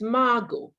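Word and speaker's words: Margot: naban second one michael it's not margaret it's margo it's mago the tea is silent all right fuada what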